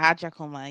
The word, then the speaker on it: Agyakomah: well welcome to the all black matters podcast at jaka is that is that did I pronounce it correctly yeah at jaka you got it there we go there we